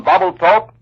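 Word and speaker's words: Babelthuap: bombed and strapped supply and ammunition dumps on bubble talk the largest enemy held island in the palau group that island is spelled b-a-v-e-l-t-h-a-u-p marine torpedo planes had installations at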